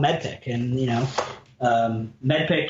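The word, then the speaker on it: MEDDPICC: medpic and you know medpic is spelled m-e-d-d p i c c the m stands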